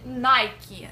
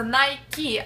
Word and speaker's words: Nike: поиграть в американский футбол а можно будет компания-производитель nike обращаем ваше внимание что произносится nike аниной как принято в россии nike это правильное